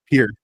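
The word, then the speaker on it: Pierre: It's pronounced as Pier. What? No. No. It's so so Yeah, it's it's so dumb. So, it's it's spelled P I E R R E and but it's pronounced pier.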